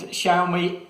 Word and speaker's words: Xiaomi: And Xiaomi is the way to pronounce this.